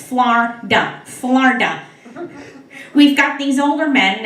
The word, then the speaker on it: Florida: You see, down here in Florida, that's correct, it's 2 syllables, Florida.